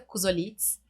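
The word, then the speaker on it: Kuzoltz: Então, assim, a minha rede social, elas são iguais, LinkedIn, Instagram, é Kuzolitz. O sobrenome parece difícil, mas não é. É como pronuncia, é K-U-Z-O-L-T-Z.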